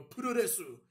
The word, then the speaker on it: puroresu: They go puroresu, like puro wrestling, basically, cucks.